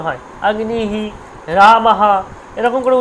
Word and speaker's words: রাম: যেমন আমি বলি আম, আম বলি বাংলায়, কিন্তু আম তো নয়, রাম, রাম বলি বাংলায়, রাম, রাম তো নয়, হবে রামা।